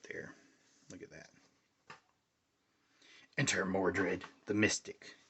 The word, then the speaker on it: Mordred: Enter Mordred, the Mystic. I always mispronounce Mordred's name as well. Modred.